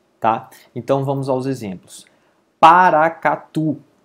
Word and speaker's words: Paracatu: Paracatu. Veja que a última sílaba é forte, mas ela termina em U, logo ela não recebe acento.